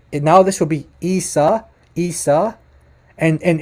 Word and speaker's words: Isa: now this will be isa isa and and it's not risa listen to that to that guttural iron at the beginning that's very important and that's a huge